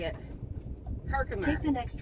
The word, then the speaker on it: Herkimer: Herkimer.